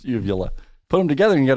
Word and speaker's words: uvula: Vulva? What is it? No, it's uvula.